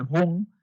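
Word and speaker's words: 魂: el Shen del hígado, que es el Run o el Hun, como su nombre como está colocado en la parte superior, que así es como se pronuncia en lo que es la fonética china.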